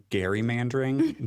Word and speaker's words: gerrymandering: You know the one thing I want to let Kathleen correct is that it's actually pronounced Gary Mandering.